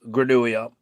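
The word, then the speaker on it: Grenouille: Yeah, I know it does only because I looked up the pronunciation of Granuia.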